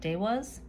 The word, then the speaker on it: Devas: next up is the devas of creation by sula conway i know that zilla i believe mentions in the guidebook that you pronounce it day was of creation i don't like